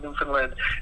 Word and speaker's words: Newfoundland: Make sure it's Newfoundland. Newfoundland. I like to say the land. Even though it's spelled Newfoundland, you pronounce it Newfoundland. Is that what you're saying? Land. They say the land part.